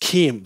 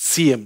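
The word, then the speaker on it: CIEM: the worst name ever it's pronounced Keem so it's not pronounced CM cm is something else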